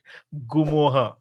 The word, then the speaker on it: Ngumoha: रियो गुआ निद एम I saying it correct गुमो हा गुमो हा रियो गुमो हा ए साइलेंट गुम एंड साइ त तू ट्रांसफर तू